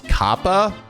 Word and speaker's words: Kappa: Apparently, this cat up here, his name is not it's not pronounced cop. It's Kappa. Like Kappa.